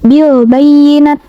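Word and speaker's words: بالبينات: Bacanya itu alif lamnya dibaca jelas, huruf ya bertasydidnya ditekan dan ee bacaan natnya ini dipanjangkan dua harakat. Jadi em bil bayyinat gitu. Bil bayyinat gitu. Kurang lebih seperti itu.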